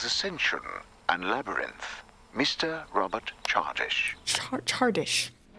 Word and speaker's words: Chardish: Chardish.